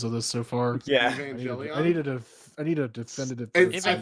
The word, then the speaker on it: Evangelion: Evangelion appears, which means it was David.